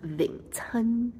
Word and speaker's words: Wing Chun: Wing chan in Cantonese is pronounced ving chan.